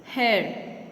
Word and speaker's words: hare: Hare. जैसे HAIR होता है ना, बाल, उसका ही सेम प्रोनाउंसिएशन है फॉर हेयर, बट इसकी स्पेलिंग अलग है and this means a rabbit.